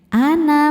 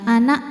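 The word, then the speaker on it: أنا: Artinya nun fathah tanpa alif bacanya pendek. Ana minal, seperti itu ya. Jangan neken, jangan anak minal, enggak ya.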